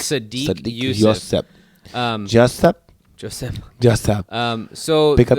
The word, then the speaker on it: Sodiq: Yeah, Sadiq. It's Sadiq Youssef.